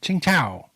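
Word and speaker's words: Tsingtao: chief of mission in chinga chinga like the beer like the beer Nice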